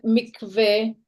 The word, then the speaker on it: mikveh: Yeah, but the mikveh or mikvah, or how do you say it in English?